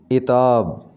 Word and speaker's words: عتاب: عطاب، صحیح تلفظ اس کا ہوگا عتاب، عین کے نیچے زیر آئے گی، عتاب۔ ظہور، صحیح تلفظ ہوگا